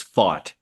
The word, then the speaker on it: Pfaadt: last name again uh it's fought like I fought the guy down the street gotcha yeah fought um